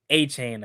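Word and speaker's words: Etienne: Apparently, it's not ETN. Yeah, like nobody say how is that? It's weird. That? Yeah, he said that. Yeah, they was like, yeah. Apparently, we've been pronouncing it wrong. Like what? Yeah, he said his name is. Yeah, his name is Travis A-Chain apparently.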